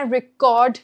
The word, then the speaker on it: record: Can I record this conversation? This conversation is being recorded for whatever training purposes. Okay. What do we focus on? The second part of the word.